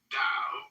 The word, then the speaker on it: Dao: The word Dao, properly pronounced Dao, has lent its name to a way of understanding and living in the world with profound implications for modern societies.